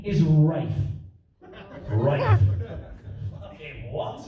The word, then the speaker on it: Ralph: I called my friend James, and I was like, mate, congratulations on the birth of little Ralph. And he went, it's actually pronounced Rafe.